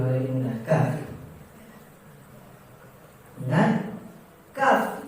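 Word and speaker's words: ك: Ingat, kaf itu ada 2 sifat yang sebenarnya bertolak belakang. Sifat tertahan dan sifat mengalir. Sifat tertahan dan sifat mengalir yang bertolak belakang di kaf.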